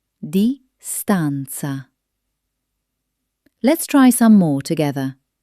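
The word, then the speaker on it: distanza: English words ending in N, C, E. In Italian, these almost always transform into a beautiful flowing na. Take the word distance. In Italian, it becomes distanc. Hear that musical ending. It's not just a word. It's a melody.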